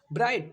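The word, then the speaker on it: bright: हाई हाई मतलब ऊंचा ब्राइट ब्राइट मतलब चमकीला ठीक है ब्राइट ब्राइट नहीं ब्राइट य जीएच का थोड़ा भी मैं प्रोनाउंस कर ही नहीं रहा हूं और यही रियलिटी है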